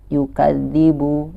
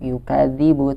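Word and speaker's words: يُكَذِّبُ: dza yang bertasydid Ayo kita harus membacanya dengan ditahan terlebih dahulu You Kelly Brook you Chase ribu He jangan langsung ditabrak yukadzibu yukadzdzibu tapi enggak yukeru ribu seakan-akan hurufnya ini ada dua gitu seakan-akan double dia yukadzibu biddin nah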